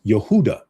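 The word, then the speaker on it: יהודה: Jehoiachin is uh is named with his former title, King of Judah, in Hebrew. It is pronounced as Yehudah.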